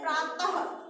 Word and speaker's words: प्रातः: विसर्ग का उच्चारण हा की तरह होता है। जैसे अपने विसर्ग कैसे प्रातः, तो हा आया लास्ट में, तो ये क्या होता है हा की तरह इसका उच्चारण किया जाता है।